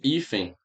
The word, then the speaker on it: hífen: A palavra hífen e a palavra hífens. Veja, viu? Hífens. Todas as palavras são paroxítona, tá? Por quê? Porque o acento tônico está aqui, ou seja, a sílaba forte é essa aqui, tá?